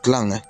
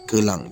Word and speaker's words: Kelang: kaki ke sekincan baik Kalau saya sebut perkataan Kelang bukan Klang kerana ejaannya adalah Kelang jadi saya akan ikut sebutan yang telah ditiipkan di sini ya mengeluh panjang embuk